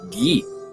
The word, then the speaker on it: Guy: And Frogfather says, just remembered my first name is pronounced the French version, so that would be Guy.